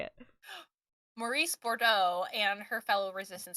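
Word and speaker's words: Maryse: you're just following around with the main character Marcy I believe that's how you say her name mace oh Maurice all right Maurice is how you say it Maurice bordo and her fellow resistance spiders um it's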